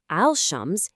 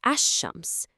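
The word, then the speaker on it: الشمس: It's not al-Shams, it's ash-Shams. The L sound is completely swallowed up by that sh sound.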